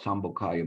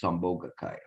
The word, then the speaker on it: Sambhogakaya: I always call it Sambhogakaya, but it's Sambhogakaya. Okay. I looked at it the last time and I realized there was an extra syllable that I was missing there.